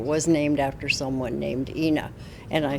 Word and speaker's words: Ina: won the fight but it is it is inna road for inna Giddings tucson tucson tucson tucson